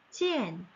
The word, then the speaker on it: 见: 그래서 지엔, 지엔 만나다 지엔입니다.